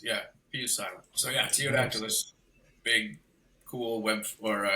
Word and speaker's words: Ptyodactylus: Is it cyodactylus? Is that how you pronounce it? No, it's actually super easy. The the P is silent. It's just teodactylus.